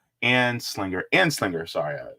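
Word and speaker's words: Anslinger: Edward coming in saying yay H boo Harry aslinger and Slinger an Slinger sorry I said that name wrong uh let me see Cobra Commander says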